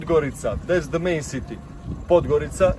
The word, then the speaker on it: Podgorica: How do you pronounce it? Because it's written Podgorica, but that's not... Podgorica, that's the main city.